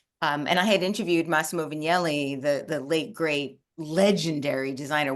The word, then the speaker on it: Vignelli: He's like, it's Vignelli, not Vignelli.